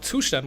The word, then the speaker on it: Zustand: something like that so uh we're talking about tushan which actually means state in German so everyone